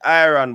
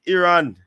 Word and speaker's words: Iran: the country's name wrong they call it iron but it is Iran hey I will put